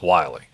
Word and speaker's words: Willie: Spelled, for anybody who's going to look that up, it's spelled like Willie, W-I-L-L-I-E, but it is pronounced Wiley.